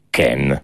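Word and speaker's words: Kean: Allora, si pronuncia come lo dice lui, Ken. Ken.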